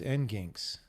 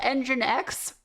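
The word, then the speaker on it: nginx: It's not N G I N X. It's not engine X. It's engine X. Are you kidding? I've I've said end gigs for years. It's called engine X.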